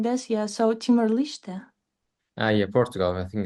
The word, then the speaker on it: Timor-Leste: Actually, yeah, I was pronouncing always Leste, but maybe it's Liste. I have checked it before the live. It written like Liste because it's Liste. Portugal word Mm. or something like this.